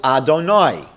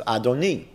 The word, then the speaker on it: Adonai: Another word that we use in Hebrew for God is Adonai, sometimes Adoni. We don't pronounce, as I